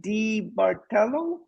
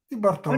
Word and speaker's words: Di Bartolo: Yes, Di Bartello, is that how you say it? yes, Di Bartolo.